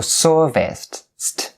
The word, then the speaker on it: serviced: So serviced, and remember, is all voiceless.